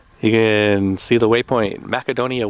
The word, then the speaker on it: Macedonia: another adventure awaits I reckon that's pronounced macadonia not Macedonia cuz the sea would be hard that's what the macedonians